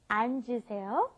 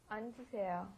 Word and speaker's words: 앉으세요: First we had sit down, 앉으세요. 앉으세요. 앉으세요. Very good. That's a little difficult one, right? Because it's got the double 받침 there. So you've got to go 안, and then the J sound comes up, 앉으세요.